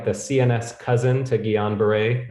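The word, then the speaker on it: Guillain-Barré: the cns cousin to guillain-barre sorry gila barre syndrome it's hard to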